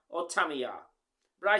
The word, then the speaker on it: Tamiya: But according to the Japanese pronunciation, the words must have three distinctive syllables. Tamiya or Tamiya.